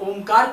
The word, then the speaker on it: ओम: प्रदान करता है क्योंकि ओ तीन शब्दों से बना है आ उ और म आ उ और म तीन शब्द से ओम बनता है और ओम का जब